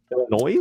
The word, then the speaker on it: Illinois: If you guys Illinois there, you don't pronounce the S in Illinois. Um, Illinois.